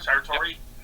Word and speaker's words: Sartori: So what I'd like to do is introduce Sartori, if I'm pronouncing it right? Sure. Sartori?